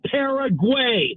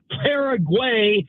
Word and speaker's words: Paraguay: USA versus it's not Paraguay, it's Paraguay. It's not like Ben Flesh, it's Ben Fletcher. So if you're going to say the opponent for the USA, they're not pale Paraguay. It's Paraguay.